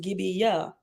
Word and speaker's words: gabia: gabia reference 49 says the Hebrew word gabia means goblet or cup it is pronounced gibia and um at the